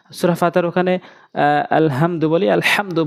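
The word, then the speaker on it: الحمد: সূরা ফাতিহার ওখানে আলহামদু বলি, আলহামদু বড় হাইন উচ্চারণ করতে হবে, তেমনিভাবে আলামিন, ওখানে হামজা আইনে উচ্চারণ করি, অশুদ্ধ উচ্চারণ হয়, আমরা আইনের উচ্চারণ করব আলামিন।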